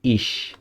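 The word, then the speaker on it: ich: এখানে দেখি, এখানে হচ্ছে সিএইচ এর আগে আই আছে, মানে কি, এও নাই ও নাই ইও নাই, সেজন্য এটা হবে ইস, ইস মানে আমি।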